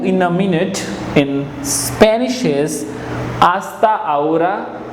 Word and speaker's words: hasta ahora: a minute in Spanish hasta ahora H is silent hasta ahora hasta ahora next is see you